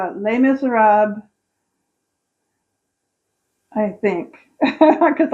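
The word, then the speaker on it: Les Misérables: And I would say that would be Les Miserables. I always say it wrong. It's supposed to be Les Miserables, but I always pronounce it like it's Spanish.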